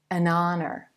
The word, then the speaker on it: honor: the consonant letter H that H is silent and the first sound